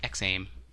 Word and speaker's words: XAIM: So I'm going to say it's XAIM.